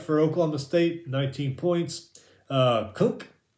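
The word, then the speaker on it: Kunc: Kunk, I think that's how you say his name, K-U-N-C, Kunk from Iowa State.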